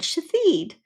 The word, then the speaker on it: Shithead: And the little girl said to feed. The problem is it's spelled s h i t h e a d.